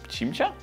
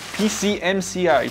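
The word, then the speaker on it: PCMCIA: To jest w ogóle cimcia? Chyba cimcia nawet. Przepraszam, PCMCI. Tak to się powinno wymawiać.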